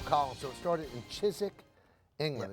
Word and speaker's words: Chiswick: so it started in chizik England it's spelled Chiswick but it's pronounced like Leicester Square you know I think